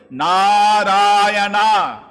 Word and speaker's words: Narayana: Although calling the name of his son, never uttered the 4 syllables, Narayana.